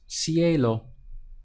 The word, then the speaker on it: cielo: word in Spanish it's Cielo so we have see a low C a low to help remember it